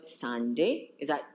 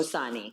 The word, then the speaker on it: Sani: We're here with Bernardino Sani. Did I pronounce? Yes. Oh, Sani.